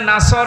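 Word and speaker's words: نصر: হয়েছে এখানে সোয়াদ আছে নাসর মানে সাহায্য আর নুন সিন র নাসর মানে ইগল পাখি আপনি যদি মুখটা গোল করে শুদ্ধ করে উচ্চারণ না করেন অর্থ আকাশ পাতাল পাল্টিয়ে যাবে আল্লাহ পাক বলেন হে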